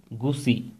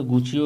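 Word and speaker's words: Gucci: দিয়ে পোশাক তৈরি বন্ধ করে দেবে, কে না, গুসি, গুসি, অনেকে গুচিও এটা উচ্চারণ করেন।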